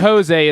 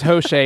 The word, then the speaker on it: Hoshea: not Jose, it's Hoshea, and I don't know if I'm saying that gosh.